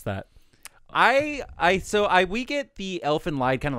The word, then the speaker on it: Elfen Lied: author of Elfen Lied, I think is the correct way you pronounce that. It's not Elfen Lied? I think it's Elfen Lied is how you're supposed to say it.